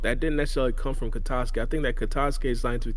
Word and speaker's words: Katasuke: Do you think that Katasuke, that's how you say his name, Katasuke, he going to like Yeah.